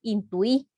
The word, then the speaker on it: intuí: El grupo U con la vocal U y la I llevan acento en la segunda vocal si las reglas de acentuación lo exigen. Por ejemplo, si nosotros utilizamos la palabra intuí, lleva tilde la I.